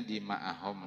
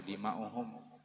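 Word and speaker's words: دماءهم: Jadi itu bacanya dima'ahum lah, karena ini ataf ga amwalahum, ada wawunya, wa ataf wa dima'ahum lain wa dima'uhum. Kenapa maka dibaca dima'ahum? Karena ataf ke amwala.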